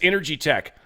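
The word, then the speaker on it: Inergy Tek: The link that they built for me, and it's Energy Tech, I-N-E-R-G-Y, so energy with an I, Energy Tech, T-E-K.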